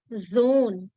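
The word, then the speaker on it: Sohn: the doctor and son we say dear Zone Zone yeah the pronunciation is like ozone layer so that zone pronunciation is there for sun Zone okay now so this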